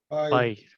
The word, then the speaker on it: Bailly: What is the correct pronunciation? Is it Bailly or Bailey? Bailly.